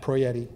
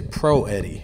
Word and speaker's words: Proietti: to introduce the author Chief Master Sergeant Matt proietti you said my name perfectly I said it incorrectly till I was like in sixth grade I used to say I used to say Pro Eddie and then my dad said you know you